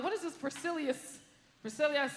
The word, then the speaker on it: Versailles: What do you need with all the other letters? It's like 10 letters. Versailles, that's 2 syllables.